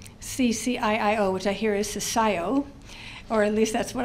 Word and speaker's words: CCIIO: head of the CCIIO, which I hear is CCIO, or at least that's what I've been told is how it's pronounced out here.